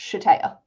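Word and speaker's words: Sh'Taya: yes yeah we had sh apostrophe t a y a h yeah is pronounced shataya oh yeah that's hard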